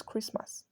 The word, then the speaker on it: Christmas: Christmas also note that the T in Christmas is silent so it's Christmas brochure not bro ritual